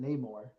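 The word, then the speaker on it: Namor: game with neore so I've never heard anyone pronounce that way everyone pronounce it neyar so that's how they pronounce it in the game buddy okay and that's how they pronounce it in Black Panther well we'll get to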